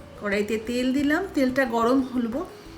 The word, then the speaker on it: কৌড়া: দেখা যাচ্ছে এইরকম দানাযুক্ত সিম নিতে হবে এই কৌড়ার জন্য এবারশিমটা দিয়ে একটু নাড়াচাড়া করে নুন আর হলুদ গুড়ো এটা উচ্চারণটা আসলে সিম কৌড়া মানে ড নর কিন্তু